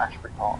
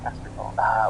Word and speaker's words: Asbury Park: I thought it was the debut, but it's Greetings from I Never Know How to Pronounce Asbury Park or Ashbury Park. Asbury Park. Well, I'm just going to go with the lack of H rather, but I can sympathise with your dilemma.